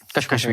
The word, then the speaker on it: KSHMR: What's your experience of working with Kashmir? Am I pronouncing it right? Kashmir, yeah. Kashmir, yeah.